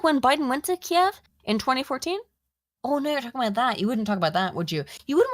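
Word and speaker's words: Kyiv: did you notice that Kiev Kiev is the Ukrainian pronunciation Kiev is the Russian pronunciation just pointing that out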